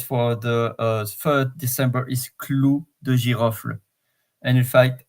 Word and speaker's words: clou de girofle: So the 3rd spice for the 3rd December is clou de girofle. And in fact, I pronounce it as is, but we can say clou de girofle.